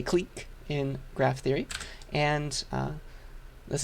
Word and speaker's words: clique: from french people but usually in english we pronounce that word as click right but we say clique in graph theory and this is also sometimes